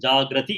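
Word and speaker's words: jāgrati: It is a singular and plural, but it has got to be pronounced properly. Tasyam, you have to say Jagarti in the first case and Jagrati in the second case.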